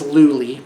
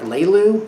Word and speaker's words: Luli: My new wife and I, her name is Luli, by the way, rhymes with Julie, and it takes a while to get used to. Some people like Leilu, Layla, Leela. Excuse me, they get the vowels mixed up.